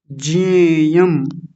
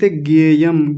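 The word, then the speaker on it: ज्ञेयम: कथम न कथम न जेयम कुछ लोग बोल रहे गेयम गेयम नहीं यह ज होता है। ज और ञ को मिलकर के बनता है तो ज बनेगा तो ज्यादातर लोग पता है क्या बोल देते हैं?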